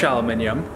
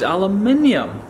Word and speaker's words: aluminium: aluminium and American aluminum it's not that I'm pronouncing it differently they are two completely different words aluminum is the American one and the sort of British spelling and pronunciation is aluminium we have an i at the end which kind of changes the way you say the whole world the whole word um and in fact